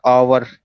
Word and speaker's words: hour: जैसे इंग्लिश में होता है ना, कोई भी पहला जो शब्द है, जैसे एक होता है ना आवर, HOUR आवर, इसमें एच जो है साइलेंट हो जाता है, तो ये भी यहाँ पे साइलेंट हो जाता है।